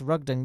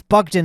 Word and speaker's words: Bogdan: I messaged Ross rugdon I said the name wrong I said Ross rugdang that's the that's not the guy Ross Bogdan is the guy I messaged him on